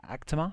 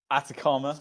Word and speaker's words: Atacama: here but is it is it Actima? Is that right? Atacama. Atacama. Oh dear.